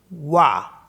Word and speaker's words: voix: Letter x भी last में आता है तो प्रोनाउंस नहीं होता है। फॉर एग्जाम्पल VOIX, वाह, इसको वाह बोलते हैं, एक्स को नहीं प्रोनाउंस करते, तो वाह मिस होता है वॉइस।